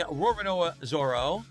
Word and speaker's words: Roronoa Zoro: A Roronoa Zoro.